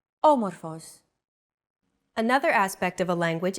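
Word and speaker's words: άμορφος: a language is intonation did you notice the accent mark above the first letter there is only one type of accent mark in modern Greek the acute accent it adds stress to a syllable a stressed syllable usually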